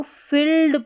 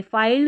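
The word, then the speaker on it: filled: life is often, often पढ़ना है, T silent है, ऑफन, इसको फिल्ड पढ़ेंगे, फाइल्ड नहीं पढ़ना, फिल्ड विद UNEXX, पैक,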